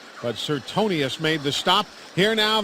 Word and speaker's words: Sertonus: His name is spelled Sertonus, is the way it's spelled, but it's pronounced Sertonius. S-E-R-T-O-N-U-S-E. Sertonus is the way it looks. But Sertonius made the stop.